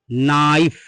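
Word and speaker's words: knife: एन लिखा है तो यहां पर भी हम के को नहीं पढ़ेंगे के साइलेंट हो जाएगा यह आपका लिखा है नाइफ क्या लिखा है नाइफ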